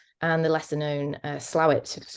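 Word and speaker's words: Slaithwaite: the Lesser known uh slawit looks like s weight when it's spelled um who have been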